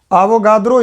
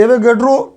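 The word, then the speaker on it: Avogadro: और एक और पढ़ेंगे जिसका नाम क्या है, आवोगाद्रो, इसको बोलने में बड़ा आ जाता, एवोगैड्रो, इंग्लिश वाला को ही प्रोनाउंस करते हैं, एवोगैड्रो का नियम।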